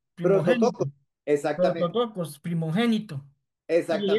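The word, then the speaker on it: πρωτότοκος: No, Juan Carlos, no, que estaba buscando eh cómo se pronuncia en griego dice prototocos. Prim prototocos. Exactamente. Prototocos primogénito.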